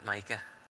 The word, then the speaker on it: Micah: Yeah, it's Micah. Okay. Like the rock, or the mineral, rather.